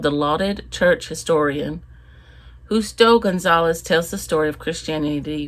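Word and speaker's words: González: I will be reading by Justo L. Gonzalez. I guess you pronounce that as an H.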